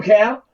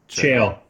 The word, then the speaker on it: Chael: So what do you do, Cal? How do I pronounce it? Chael. Chael. I'm sorry, which is much better than Cal.